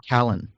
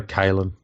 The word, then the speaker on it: Kalyn: Because I call him Callan. I'd say Kalen. Callan Ponga. But his name is Kalyn. Yeah, Kalen.